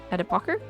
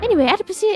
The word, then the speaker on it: adipocere: It's called the adipocer?